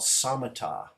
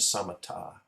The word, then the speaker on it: samatha: in um in the Tranquility is called samata it's spelled like samatha but the pronunciation of samata and that's that's uh Tranquility you may notice